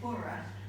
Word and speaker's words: Burgh: Uh and I noticed that Paul pronounces it bora but I used to work at the national archives which is where this very beautiful volume of Thomas B's will comes from. And um the pronunciation there was was B. So I'm going to go with that this evening. You'll have to forgive me if that goes against the local local Thomas Burr.